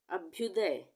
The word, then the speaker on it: अभ्युदय: है ये अक्षय अक्षय अभ्युदय अभ्युदय अभ्युदय में आधा भ हम का उच्चारण आ रहा है अभ्युदय अभ्युदय ठीक है